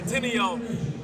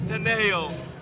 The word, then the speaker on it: Tineo: right and we've got teneo who number one has just informed me i've been murdering her name all day i'm gonna say tineo it's taneo so the first thing